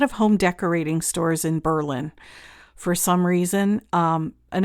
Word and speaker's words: Berlin: been reliably informed that that is the correct pronunciation by someone who grew up in that area it's not Berlin it's Berlin so we went to Berlin and the last time we were there probably